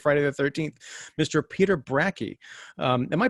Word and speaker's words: Bracke: complete history of friday the 13th mr peter brackey um am i pronouncing that correctly yeah okay so i just